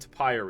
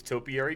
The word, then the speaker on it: topiary: people it appears that I do not know know how to pronounce topiary is that is that correct now I I think I said toi yesterday is to is topiary correct sounds correct now very cool what